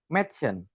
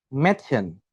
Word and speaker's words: Mädchen: Jadi A umlaut itu disebut ketika kita menggunakan atau menyebutkan huruf A umlaut tersebut, kita bacanya menjadi E seperti itu. Seperti E pada kata enak. Enak seperti itu. Lalu ketika zum Beispiel atau contoh kita bilang Mädchen. Mädchen seperti itu.